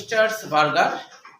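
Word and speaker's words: স্ট্রাসবুর্গার: প্রথমে আমাদের মনে রাখতে হবে স্টার্সবার্গার। হ্যাঁ বুর্গার না, আসলে স্টার্সবার্গার হবে। হ্যাঁ বার্গার উচ্চারণটা আসলে বার্গার, বুর্গার না, স্টার্সবার্গার।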